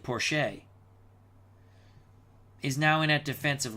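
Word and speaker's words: Porcher: limping off the field Robert I think you pronounce it Porsche is now in that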